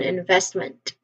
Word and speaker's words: investment: So this is return on investment.